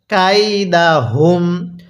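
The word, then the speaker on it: كيدهم: আরেকবার পড়ুন আলাম ইয়াজাল এরপরে কাইদা হ্যাঁ পড়ুন কাইদাহুম আরেকবার আমার সাথে পড়ুন বলুন আলাম ইয়াজাল এরপরে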